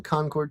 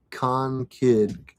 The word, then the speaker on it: Concord: Karen, I'm in Concord too. Jen, we pronounce it Con-Kid. Or Concord. I've heard Concord.